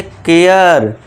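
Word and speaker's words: care: ए के बाद आर ई आ गया तो इसे भी क्या करना है? ए का कर देना है। शेयर सर नहीं शेयर। केयर शेयर mayor.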